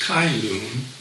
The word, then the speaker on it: Cai Lun: It was invented by this guy, Cai Lun, sometimes pronounced Kai Lun, in 105 AD.